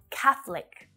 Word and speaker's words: Catholic: separate very very slight catholic this one's tricky because of that th sound right you might find it easier to keep that extra schwa sound that extra syllable in there between the f and the all consonant sound so this one i understand if you having a little bit of trouble with it but you'll hear catholic three syllables or catholic cass lick shorten it right down to just two there are several buildings